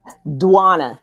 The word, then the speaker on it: Djuanna: Djuanna. D. Djuanna. Put that hard D on Djuanna. there. Yes. Djuanna. I like that. It has like a Afrobeat feel to it. Djuanna. Yes. There's a song called Djuanna that we like a lot.